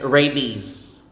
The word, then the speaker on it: rabies: breakfast breakfasts okay next rabies rabies rabies the s is z and then the letter a after the r is pronounced as a with a maker